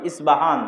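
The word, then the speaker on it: أصبهان: প উচ্চারণ করি ইসপাহান আরবিতে এটা উচ্চারণ হয় না আরবিতে হয় আল আসবাহানী বা উচ্চারণ হয় ইসবাহান বা আসবাহান সেখান থেকে 70 হাজার ইহুদি দাজ্জালের সঙ্গী হবে সাথী হবে এবং মুসলমানদের বিরুদ্ধে যুদ্ধ করবে।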